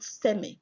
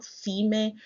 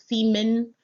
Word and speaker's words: Seme: We call it Seme, not Sime, not Zime, not Semen. It's Seme.